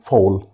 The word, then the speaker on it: fall: وزي ما قلنا حرف A إذا جه بعد منه ال هنا بنطقه زي الأو فبقول fall.